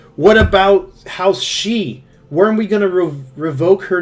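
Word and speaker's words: Sidhe: House Hawk, one of Renault's sworn houses, is the one that's commenting, weren't we going to remove House She?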